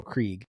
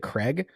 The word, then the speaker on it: Krieg: But General Krieg, and I would have not pronounced it Krieg, I would have pronounced it Craig based on how it's spelled.